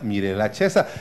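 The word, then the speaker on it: Mirella Cesa: se mire la checa se escribe mi bella pero se pronuncia mírela chesa y vigas de que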